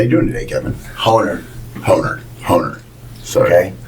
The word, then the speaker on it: Horner: Honer. Sorry. Okay. The second H is silent. Okay. But it's pronounced just like boner.